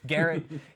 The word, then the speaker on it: Garrett: his name was garrett it's spelled like gear gear it gear it garrett garrett fitzpatrick and he